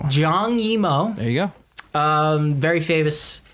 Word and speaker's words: Zhang Yimou: 2017 movie directed by a man who I'm not even going to try to pronounce. Zhang Yimou. Zhang Yimou.